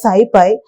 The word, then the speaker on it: SciPy: So, the SciPy, SciPy, is pronounced as SciPy.